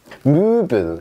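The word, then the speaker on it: Möbel: 자, 무빌.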